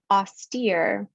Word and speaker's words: austere: We have austere, austere, hydraulic.